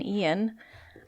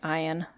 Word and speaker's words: Ian: the devastation of hurricane Ian I don't know why I kept pronouncing it iron that's not correct but anyway um hurricane